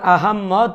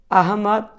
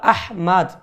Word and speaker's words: আহমাদ: বলেন অথবা আহমদ বলেন উভয়টাই ভুল শব্দ উভয়টা উচ্চারণ সঠিক হচ্ছে না বরং সঠিক আরবিতে যে শব্দ উচ্চারণ সেটা হলো আহমাদ আহমাদ তবে বাংলা ভাষা হিসেবে সর্বোচ্চ আহমদ এটা বলা যেতে পারে আহমদ তবে আহমেদ আহাম্মেদ আহাম্মদ